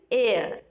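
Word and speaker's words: heir: An air. N, H-E-I-R, air. Okay? H is silent here.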